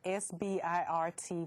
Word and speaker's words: SBIRT: as behavioral health agencies, is SBIRT, S-B-I-R-T, which is pronounced SBIRT.